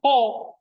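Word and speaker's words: ὁ: Kalau ini, ya pakai H. Jadi bacanya ho.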